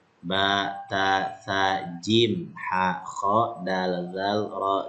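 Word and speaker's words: جيم: Jadi ini huruf jim, bukan huruf ja ya. Tapi kalau nanti dia berharokat fathah baru dibacanya ja, tapi nama hurufnya adalah huruf jim.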